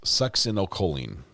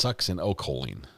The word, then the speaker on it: succinylcholine: Amber says correct pronunciation is succinylcholine. It's succinylcholine.